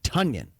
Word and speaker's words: Tonyan: name is pronounced tanyan as in rhyming with funyun apparently everyone has been calling him tanyan for a long time and he just didn't feel like correcting people he's too nice but it's tonyan that's the latest man